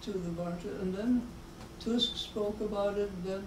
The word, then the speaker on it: Tusk: Just before the crash, there was a very important meeting of Prime Minister Tusk of Poland, pronounced Tusk in Polish, the head of the Civic Platform Party, which is a sort of middle conservative liberal party, and President Putin.